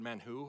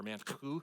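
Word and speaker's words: מן הוא: The word mana comes from the Hebrew word man who or man who you got to kind of spit in the back of your throat to pronounce it.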